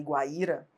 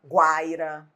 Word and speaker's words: Guaíra: Porque senão, se a gente não mantivesse o acento de Guaíba e Guaíra, qual seria o risco? No futuro, as pessoas falarem Guaiba, Guaira.